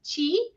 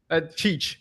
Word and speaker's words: Cheech: And we're going to get a perspective from my wonderful guest, Chi. Did I pronounce that correctly? Cheech, yes, thank you.